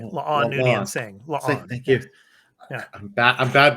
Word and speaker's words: La'an: Whereas, of course, La'an, and we're going to talk about her all throughout this episode.